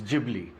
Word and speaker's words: Ghibli: So just for all the viewers to understand it is GLY wherein that G that emphasis has to be on the G. So it's Gibli.